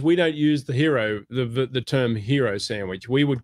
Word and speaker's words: gyros: that thing that's spelled G-Y-R-O-S, right? Yeah. So I don't know if it's gyros, if it's gyro, or hero, it's hero.